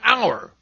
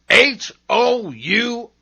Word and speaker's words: hour: At the beginning of some words, H is seen but not heard, as in hour. H-O-U-R, hour.